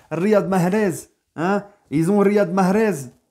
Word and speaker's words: Riyad Mahrez: Riyad Mahrez. Eh oui, je la prononce à l'algérienne, les gars. Riyad Mahrez.